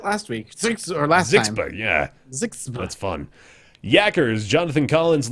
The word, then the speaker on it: ZHXB: How would you say that phonetically? You go ZHXB? I think we did that last week. Last time. Yeah. Zixba.